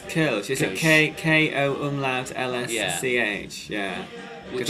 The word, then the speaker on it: Kölsch: Klosch, I think it's pronounced. You're probably going to correct me. I think it was Kölsch.